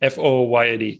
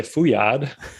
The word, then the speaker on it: Fouillade: But FOOYAD, it's the phonetic spelling of my last name. Because when I moved to the US, people couldn't say Fouillade.